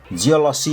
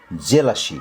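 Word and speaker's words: jealousy: ओ यु एस वाई यसको उच्चारण जिओलसी हुँदैन है। द्याट्स रङ त्यो गल्ती हुन्छ। यसको शुद्ध उच्चारण हुन्छ जेलसी जेलसी जेलसी जेलसी भनेको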